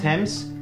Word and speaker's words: Thames: Attention aux exceptions, par exemple, le A se prononcera A dans yacht, ou encore O dans wrath, et A se prononcera E dans Thames, any, ou encore many.